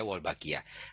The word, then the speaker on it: Wolbachia: Ya, cara pengucapannya Wolbachia.